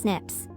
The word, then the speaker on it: SNPs: single nucleotide polymorphisms or snps pronounced Snips these are tiny variations